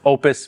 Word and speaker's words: Oupes: It's pronounced Opus, but you can't put a name like that on the power station and not expect everybody to call it Oupes.